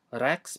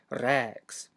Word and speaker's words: rēks: Also, remember to pronounce the e in rex twice as long as normal. Not rex, but rex.